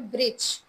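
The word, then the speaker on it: bridge: अच्छा which letter silent in the word ब्रिज ब्रिज word है बी आर आई डी जी ई इसमें कौन सा साइलेंट है? डी D very nice who डब्ल्यू एच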